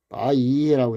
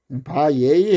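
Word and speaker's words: וַיְהִי: 바예히 해도 되고 바이히 해도 돼요. 이건 크게 그거 아니에요. 바예히 했을 경우는 이거를 장모음으로 본 거고 또 이걸 단모음으로 봤을 때는 발음을 안 하고 또 열에서 이히라든지 예히라든지 열이 본 거니까 크게 의미가 없습니다.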